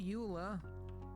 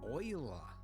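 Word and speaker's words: Euler: it okay rotation rotate not Ula oila that yes I know they went with the weird pronunciation I think it was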